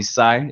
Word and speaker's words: Cy: Everyone calls me Cy. It's easy to pronounce.